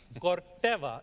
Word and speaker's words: Corteva: did your name of your company get pronounced correctly? Corteva, if I can say it, I'm sure everybody can, right? So it got pronounced perfectly.